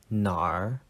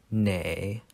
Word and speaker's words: 哪: it's pronounced na but there's a hidden r if you want to add it so i usually say nar so the pattern is